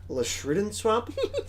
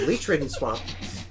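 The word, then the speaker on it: Leechridden Swamp: when I was little I had no idea how to pronounce it I thought it was like a shrew didn't swap but it's Lee Trading swamp it is a land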